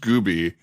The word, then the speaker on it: Gube: I don't know if you remember this, that your actual last name is pronounced Gooby and that they called you Ubie Gooby in high school.